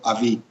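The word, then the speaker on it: אבי: el prefijo del padre padre en hebreo se escribe con una alef y una bet por lo tanto se pronuncia AB y también cuando se hace una referencia de mi padre se eh le acompaña con una letra yod y por lo tanto se conforma el vocablo Avi Pues bien de estas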